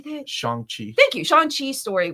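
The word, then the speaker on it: Shang-Chi: Shan Chi.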